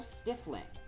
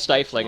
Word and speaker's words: stifling: with toadsworth it's so stiff link that word is actually pronounced stifling i didn't know that